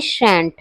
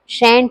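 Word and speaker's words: shan't: व्हाई शैंट शैंट या शंट मतलब दोनों की यह दो प्रोनाउंसिएशन होते हैं इसके।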